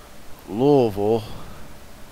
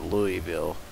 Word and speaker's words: Louisville: he's from there because most people don't pronounce uh Louisville you know they usually come in and pronounce it Louisville or Louisville but the people that live there called it Louisville so is vuladar that's not